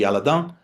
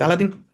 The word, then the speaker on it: Aladin: Since it was developed in Strasburg, probably the correct pronunciation would be Aladon, but I still call it Alladin.